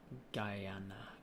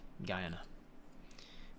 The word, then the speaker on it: Guyana: what you're saying Guyana you can swallow the unsounding part if you have a Guyanese accent Guyana Guyana like Guyana Guyana Guyana Guyana Kiana not Gianna Central American on the Caribbean